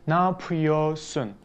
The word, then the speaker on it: Napıyorsun: okay let's see there but usually in dale's speech we don't pronounce that red we just drop it and we just say now puyo sun without red nap your soul nap